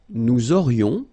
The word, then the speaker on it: nous aurions: Nous aurions, liaison here, this little link. Nous aurions, final S not pronounced.